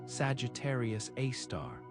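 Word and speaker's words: Sagittarius A*: It's called Sagittarius A, pronounced Sagittarius A star, and it sits at the exact center of the galaxy, the point around which everything else orbits.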